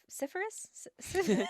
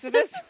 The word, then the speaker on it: Sisyphus: Syphilis? Not Syphilis? syphilis. Sisyphus?